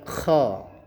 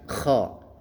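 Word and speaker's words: خ: Kemudian dengan titik satunya di atasnya maka ini dibaca ko. Nah k ini dia punya hukum makhraj itu takriq. Artinya seperti suara orang mengorok. Maka bacanya ko. Coba diulangi ko. Ya, butuh latihan ya. Silakan diulang-ulang untuk bisa menyebut suara huruf ko.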